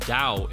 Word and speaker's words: Tao: the Tao Zi Kondo pronounced Dao if you have a man bun Bruce advises striking with